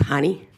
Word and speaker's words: Janie: My name is pronounced honey.